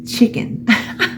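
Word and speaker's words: Chik'n: You see how it's spelled? C-H-I-K apostrophe N. It's chicken.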